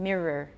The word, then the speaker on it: mirror: should watch out because a lot of you pronounced the oh and you should just pronounce to pronounce a schwa so let's review again mirror mirror error alright when